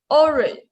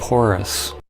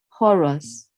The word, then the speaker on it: Horus: Oh yeah, the eye of orange. 这个 orange is Yeah, pronounced listen to orange. it. Yeah, I think we can listen to it. Yeah, listen carefully. The Eye of Horus Horus. Horus.